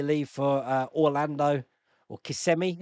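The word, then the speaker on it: Kissimmee: My my youngest son and daughter, they leave for uh Orlando or KMI, is that how you pronounce it? Not Kissmi, is it? It's KMI. They're in KMI in uh from Tuesday onwards for two weeks.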